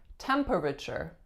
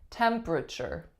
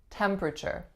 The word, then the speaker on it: temperature: temperature temperature now this one may look like temperature temperature but it is much much much more common to hear temperature temperature can you check the temperature for tomorrow number